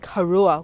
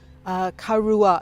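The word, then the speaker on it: Karuah: We're here in a town called Karua, which is spelled K-A-R-U-A-H, Karua, which is a small town just north of Newcastle.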